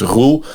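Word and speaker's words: Roel: So it's Roul. Its most close pronunciation is like the rules in a book. Like if you think about a rule in a book, like that's how you would pronounce it. And then we do something strange with our R's, right? So we do Roul, like a hard rolling.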